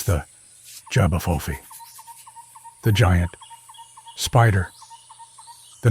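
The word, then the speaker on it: J'ba Fofi: The legend of the Xiopi, pronounced Zu Ba, Faux Fi, has been told in parts of Gabon and the Congo Basin for generations.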